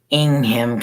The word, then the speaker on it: Ingham: So you don't pronounce it like it's spelled.